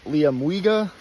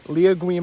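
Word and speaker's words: Liamuiga: I did is on Mount Liam mua not liaa or whatever I said before that was my bad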